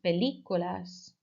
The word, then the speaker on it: películas: Vemos películas. Okay, and note each time that películas has that accent on the I, so you're really putting emphasis there each time.